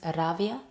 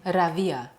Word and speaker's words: Rawia: Is Ravia? Yeah, it's not a V. It's W Ravia. Rai. Rava.